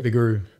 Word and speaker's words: Vigouroux: yeah yeah how do you say your surname vararu V oh yeah okay okay good we got